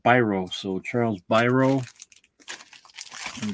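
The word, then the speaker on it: Biro: well my uh uh Myer greenblat says it's pronounced brro so Charles brro let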